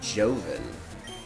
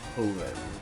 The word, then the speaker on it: Joven: Oh, so super nerd Joven. What an interesting name, Joven. I think it's Hoven, like in Spanish J pronounces an H.